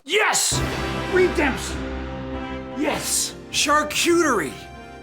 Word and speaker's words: charcuterie: He has and I hope I don't say this wrong, a charcuterie. How do you say that? Ooh. That's just charcuterie. Yes! Redemption! Yes! Charcuterie!